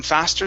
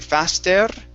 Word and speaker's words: faster: okay that's okay so you had rolled the r on faster saying faster okay it's faster a lot faster a lot